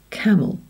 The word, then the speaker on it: camel: So here we've got camel. It's the E that is swallowed. It goes camel. We don't say camel or camille, but we go camel.